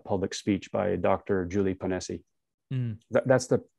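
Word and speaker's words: Ponesse: listened to a public speech by dr julie panesi that's the pronunciation yes yeah she's a fantastic lady i've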